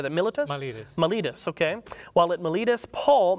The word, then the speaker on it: Miletus: Miletus, okay.